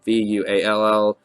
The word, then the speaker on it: Vual: It's been written wall and wall like wall, but my spelling and pronunciation is Vuall. Vol.